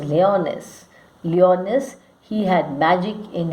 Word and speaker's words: Lyonnesse: I think it's better to pronounce as lyonnesse.